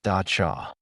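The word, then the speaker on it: dab tsog: They spoke of a malevolent spirit, a vengeful ghost known as the Dabbed Sag, pronounced Dachcha.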